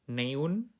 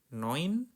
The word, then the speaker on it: neun: Bukan neun noin. Huruf EU dibacanya oi.